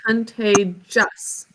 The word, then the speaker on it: contagious: I is also underlined because it's an open syllable. It's actually double underlined because we don't say it. We say contagious.